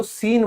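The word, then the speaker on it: scene: ठीक है, अब ऑब्सीन हो चाहे आपका ये, भाई तूने वो सीन देखा, तो आप खुद देखोगे इसको आप क्या कहते हो, सीन बोलते हो, क्योंकि ये सी साइलेंट है।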